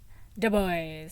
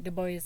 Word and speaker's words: Du Bois: So I got I think it's Du Bois. Du Bois, like, yeah, Du Bois in the hood-ish. Because he was very adamant about it not being pronounced as the French name, which it otherwise is.